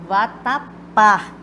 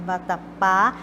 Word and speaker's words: vatapá: uma palavra é oxítona quando a sílaba tônica que ela sílaba mais forte recai na última sílaba Então vou contar que eu vatapá né vatapá e nem sempre gente